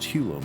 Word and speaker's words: Hugo: known as hulo mill it was often spelled hugo but pronounced hulo mill i was never really